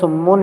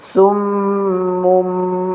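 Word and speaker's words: صُمٌّ: এই যে ছোট্ট করে একটা মিম দেওয়া দেখছেন, সুম মুম মুম, এনে বার উচ্চারণ হবে না, সুম মুম, মুন হবে না, মুম হবে, মুম মুম মুম মুম।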